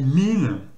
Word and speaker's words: mean: Donc pareil, on retrouve un E et un O qui se prononcent I allongé, donc c'est un I allongé. Je fais, donc là ça fait mean, mean, et là I, bien sûr I.